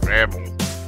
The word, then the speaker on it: Babel: It's going to be a real tower of Babel. I said Babel, not Babel.